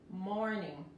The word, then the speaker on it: morning: Aquí la G al final es tan sutil que casi no se escucha. Si no la quieren pronunciar, está bien, morning, morning. No quieren pronunciarla fuerte, no es morning, es morning.